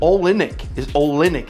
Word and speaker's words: Olynyk: But Kelly Olynyk is how you say it, I was corrected, is playing, and he's taken that group of young Rockets role players and put them on his back.